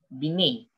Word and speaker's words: Binet: called the vines formula it's pronounced as bini going on with the